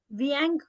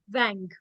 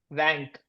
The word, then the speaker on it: vingt: douze, treize, quatorze, quinze, seize, 17, 18, 19, vingt, Viang. नहीं. Wang. vingt. Perfect. Straight wang. Okay.